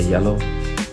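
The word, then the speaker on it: Zalo: You should get Yellow, this application, or it's spelled like Z-A-L-O, but you say Yellow.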